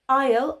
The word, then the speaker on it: Isle: Isle, ISLE, is a small island, for example, the Isle of Wight. Again, here, the S is silent.